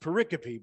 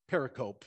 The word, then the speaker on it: pericope: giving to my classmates now it's pronounced pericope but i pronounced it pericope and as someone who